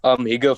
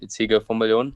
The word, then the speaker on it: Higgo van Biljon: Higgo van Biljon. I know most people think it's Higgo, but it's spelled a bit differently. So it's Higgo van Biljon.